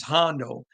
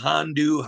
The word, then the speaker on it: Hondo: your name right because my name's Hondo people get I've been called hondu Honda H all kinds of stuff and I want to get